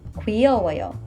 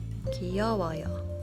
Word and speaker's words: 귀여워요: For words like 귀엽다 and 쉽다, remember that you don't need to make a strong W with your lips and say 귀여워요 or 쉬워요. The Korean pronunciation requires almost no movement from your lips. 귀여워요.